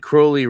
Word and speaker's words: Crowley: Um they said crowley rhymes with holy.